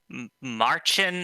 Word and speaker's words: Märchen: air Angel who is running I'm I'm gonna pronounce this wrong but Marchin Adventure cotton 100% yeah no you said it